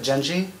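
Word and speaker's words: Jenji: botch this name cuz I feel like it's pronounced different than I think but jeni that's right that is correct I feel like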